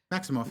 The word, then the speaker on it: Maximoff: Maximoff, yeah, you said it right.